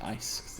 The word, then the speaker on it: ICE: their Matrix and again it's pronounced ice it's the same concept